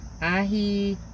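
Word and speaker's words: Aithiops: It's Ahitheopes, which is an Ethiopian person. And Athio, A-I, because it's spelled A-I-T-H-I-O-P-S.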